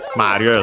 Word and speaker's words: Mario: Well, actually, could be pronounced as Mario, as mentioned, accented on the first syllable.